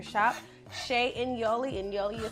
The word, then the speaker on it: Shea: sha in Yoli and sha is spelled s h EA just like shea butter shop Shay in Yoli and Yoli